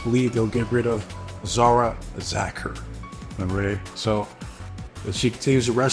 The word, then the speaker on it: Zara Zacher: Next up is Zara Zacher. That's how you say her name.